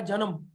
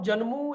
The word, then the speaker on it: जनमु: तो इसको हम जन्मू या अकाजू नहीं पढ़ेंगे, इसका उच्चारण होगा जन्म और अकाज।